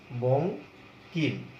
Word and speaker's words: বঙ্কিম: আবার তুমি যদি উ দিয়ে কোনো একটি শব্দ দেখো, সেখানে কিন্তু এই অং উচ্চারণটাই পাওয়া যাবে। যেমন আমরা যদি বলি বঙ্কিমচন্দ্র, বঙ্কিম, এটাও কিন্তু দেখো বঙ্কিম।